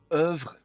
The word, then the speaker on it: oeuvre: Angry Dog is a surprising component of Edvard Munch's oeuvre.